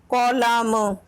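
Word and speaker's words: column: कॉलम में कौन सा लेटर साइलेंट है? कॉलम। जबकि इसमें एन की कोई भी साउंड नहीं आ रही है, तो हमारा आंसर एन हो जाएगा।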